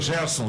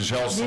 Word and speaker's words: Gerson: Eu já vi o Gerson ser chamado de Gelson.